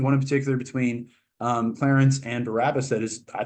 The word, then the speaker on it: Clarence: what isn't it Clarence I thought you're supposed to pronounce it Clarence but no that's actually like a plot point where like then the woman uh God deia vinia vinia pronounces it correctly he's like you're the only one who says my name with two syllables which isn't really true